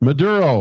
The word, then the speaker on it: Maduro: detaining how do you say it again Maduro Maduro doesn't make America safer and that